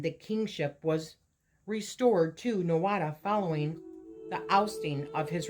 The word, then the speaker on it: Nuada: During this encounter, the Danann High King Nuada Argethlum, pronounced Nutha Orgethlum, lost his arm.